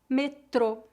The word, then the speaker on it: metrô: Se a palavra tiver acento agudo, a pronúncia é aberta. Vamos ver alguns exemplos. Repita depois de mim para praticar. Pronúncia fechada. Avô, avô. Pôr, pôr. Metrô, metrô.